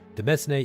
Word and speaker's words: demesne: For the record, Demesne is pronounced domain.